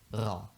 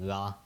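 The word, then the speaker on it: ر: it with your tongue if you can't roll your R that's totally fine you can just say raw as well that's fine as well and yeah just like an r in English basically pretty similar except with a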